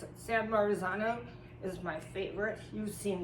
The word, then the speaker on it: San Marzano: of um it's sanar oh I can never pronounce it San Marzano is my favorite you've seen these everywhere and